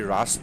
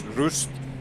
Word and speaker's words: Rust: Most people will say Rust because that's how you spell it, but it's not Rust. Rust is English. It's Rust, or Rust is German.